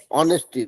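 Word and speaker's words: honesty: गया एच ओ एन ई एस टी वाई ऑनेस्टी तो आप लोग सब कोई मेरे साथ में दो चार बार प्रोनाउंस कर लीजिए उच्चारण कर लीजिए ऑनेस्टी ऑनेस्टी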